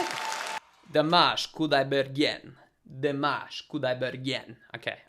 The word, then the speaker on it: Kudaibergen: Dimash Kudaibergen. Dimash Kudaibergen. Okay, I think it's like a yen at the end.